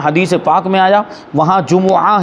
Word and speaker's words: جمعہ: پاک میں آیا وہاں جمعہ ہی بولیں گے میم کے پیش کے ساتھ۔ اب یہاں پہ وہی